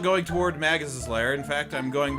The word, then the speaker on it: Magus: Yeah, I think I grew up saying Magus because it sounds like mage.